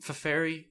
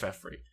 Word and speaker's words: Feferi: I used to pronounce her name Feferi, but I think it's just Feferi.